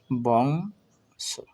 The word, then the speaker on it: বংশ: বংশ, ব অনুস্বার বং, স তালে স, বংশ, অর্থাৎ এর সম্পূর্ণ উচ্চারণ হবে বংশ।